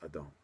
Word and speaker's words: Adon: And I'm not sure how the English pronunciations are actually, because we in Street Fighter 1 we call them Aiden, but obviously in the Street Fighter 4 the pronunciation is Adon.